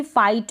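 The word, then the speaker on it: fight: GH का आपको pronunciation बिल्कुल भी नहीं सुनाई दे रहा होगा, डॉटर। फिर सेम ऐसे ही फाइट में है, क्या है, फाइट में है, फाइट।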